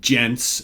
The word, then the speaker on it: Djents: So Forever Summer and Ladies and Gents, and that's spelled DJENTS. Get it? Gents.